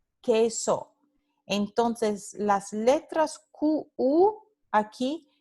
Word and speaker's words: queso: Por ejemplo, queso. Esto no se pronuncia queso, se pronuncia queso.